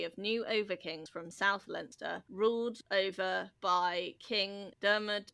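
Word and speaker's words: Leinster: the we dunlange dynasty who ruled langster. Okay linster yeah I so yeah most of the time I will say the pronunciations that are correct against my my best instinct to sound out the spelling.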